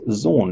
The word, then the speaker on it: xorn: going to be covering the zone pronounced Zorn EXO are in kind of sounds like porn oh oh we didn't